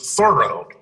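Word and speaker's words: Thoreau: said that um there the emphasis is on the first syllable he is thorough uh yeah whatever he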